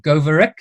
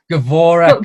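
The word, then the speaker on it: Goworek: Helen Goverick. I pronounced that right, Helen? Goverick? Gavorek. But very close, better than the majority of people. It's better than Goerick, like I was saying last week.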